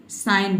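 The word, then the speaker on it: sign: पूछा क्या पूछा didn't you read the traffic साइन board ठीक है किसी भी वर्ड का जब आप प्रोनाउंस कर रहे हैं तो वर्ड को यदि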